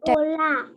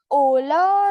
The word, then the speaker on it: hola: Hola. Yeah. Hola is hello. You try to say hola, everyone. Hola. Ma'am, it's Ola or Hola? Hola. H is silent. H is silent here.